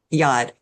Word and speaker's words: yod: Yeah, yod, yod.